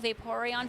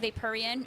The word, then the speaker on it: Vaporeon: I met and they would call Vaporeon vaporean it drove me crazy um there was this